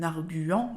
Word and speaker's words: arguant: de la même manière on dit bien en arguant et non pas en argant et il fait aussi